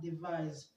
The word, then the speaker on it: devise: Okay, the S in was is pronounced z, z, z. Okay. Now let's see the options. We have devise.